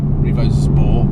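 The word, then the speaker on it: Revozport: Revo Sport spelled with a Z, so Revo Z Port, Revo Sport, Revo Sport. It's quite difficult to pronounce actually when you're reading it.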